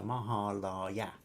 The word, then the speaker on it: Mahalaya: in India, yet surprisingly, Mahalaya Paksha, and she's actually written down pronounced Ma as in Mark, Ha as in hard, La as in lark, Ya as in yak. So Mahalaya Paksha that is observed